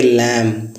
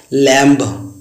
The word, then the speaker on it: lamb: एक होता है LAMB, इसे गाइस पढ़ेंगे लैम। इसका होता है मेमना, जिसे कहते हैं भेड़ का बच्चा। अब गाइस, हम लोग जब अक्सर इसको पहले बचपन में पढ़ते थे लैम्ब, कॉम्ब।